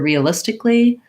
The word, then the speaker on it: realistically: the vowels in realistically um we start with the tense e vowel so it sounds like re the symbol in the dictionary is a little lowercase i and most of you have an e in your native language so just making sure that you're staying tense re is how you do that vowel if you struggle with